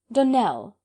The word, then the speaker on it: Donnell: would set it right donnell accent on the last syllable and sint claire on